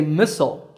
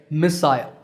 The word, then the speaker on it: missile: For example, Americans say missile, while the British say missile. But notice that the stress is on the first syllable in both.